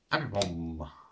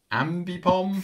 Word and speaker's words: Ambipom: And we kick things off with a Fletchlinder, Flappy, Abby Bomb.